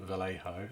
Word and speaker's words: Vallejo: one these are the model air range from Vallejo the thing that's how you pronounce it and this is the a K